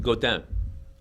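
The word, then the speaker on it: Godin: down which they called golden but I it's pronounced go down go let's play French yeah well go they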